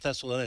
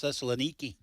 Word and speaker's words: Thessaloniki: Yeah, well, You don't pronounce it Thessaloniki. It's Thessaloniki. Yeah, well, Oh, you know,